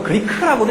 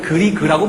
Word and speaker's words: Grieg: 우리가 뭐 독일어 발음으로 그리크라고도 얘기하고 보통 에드바르트, 그리크 뭐 이렇게 부르기도 하지만 보통 우리 교과서에 있는 대로 얘기를 하면 그리그라고 부릅니다.